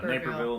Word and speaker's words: Naperville: We're going to be in the DoubleTree Hotel in No, Naperville.